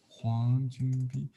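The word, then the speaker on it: 黃君璧: It's the same in our spelling, but sometimes the first name Jun is spelled Jun in Pinyin Bi or Chunpi, pronounced the same.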